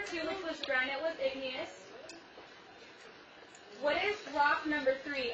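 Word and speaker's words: igneous: of rock is granite everyone say the word Ignus IGN say the word ignas again IGN now say it to your teammate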